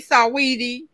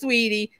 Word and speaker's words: Saweetie: I want to say Saweetie, but it's Sweetie.